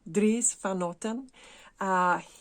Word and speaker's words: Dries van Noten: Dries, let's say it correctly, Dries van Noten.